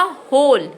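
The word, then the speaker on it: whole: तो पहला शब्द बनेगा होल। क्या बनेगा? होल। तो देखिए मैंने W को नहीं बोला, मैं HOLE होल बोल रही हूँ, ठीक है।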